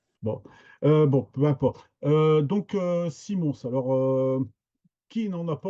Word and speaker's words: Simons: Et Simons, son nom est flamand. Son père et son nom de famille, hein, Simons, avec le S qui se prononce à la fin.